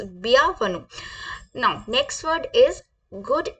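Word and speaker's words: bienvenue: कर लेते हैं वेलकम मैंने आपको बताया पिया वन सॉरी मैं दोबारा बता रही हूं इट्स बिया वन now next word is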